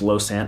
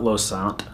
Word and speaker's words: Losant: I just learned that it's pronounced Losant, not Losant.